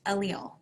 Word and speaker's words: allele: a different version of it and then it's pronounced allele genotypes can be homozygous which means they have